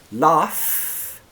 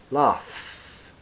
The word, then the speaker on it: laugh: has an unvoiced F laugh also the the vowel sounds are different too so let's go from the end back F in laugh is unvoiced there is no vibration in the throat laugh love the V